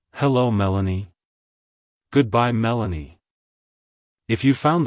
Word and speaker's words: Melany: name it's pronounced as Melanie Melanie Melanie to pronounce it correctly emphasize the Mel syllable and then add a soft uh sound before ending with an a like hello Melanie goodbye Melanie if you